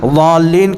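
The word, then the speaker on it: الضالين: کبھی یہ ہوتا غیر المغضوب علیہم ولا الضالین، ضالین کا جو ضاد کا تلفظ ہے ولا الضالین کہہ دیتے، نہیں غلط ہو جائے گا، زے سے تھوڑی ہے.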